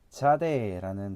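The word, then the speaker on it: צ: 그래서 피읍 발음, 영어에는 P 발음이 되겠죠. 자, 다음은 자대라는 단어입니다.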